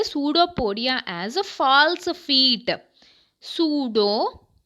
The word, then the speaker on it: pseudo: Pseudo, P silent here, P is silent.